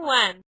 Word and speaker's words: Nguyen: girl in class Alexandra nen just saying when why are you going to pour me a glass of milk you idiot that's how you pronounce her last name in English she's going to think